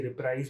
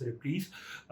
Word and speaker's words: reprise: Throughout my childhood, I used to say reprise, but turns out it's pronounced as reprise.